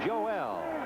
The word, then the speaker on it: Joel: The name is Joel, but he doesn't pronounce it Joel, as you might imagine. It's Joel.